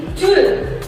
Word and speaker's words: Joule: J kalau Simbol J pada kalor itu kepanjangan dari Joule. Joule. Ya. Ya, Bisa menulis? enggak Joule gitu aja, Bu. Tidak, salah.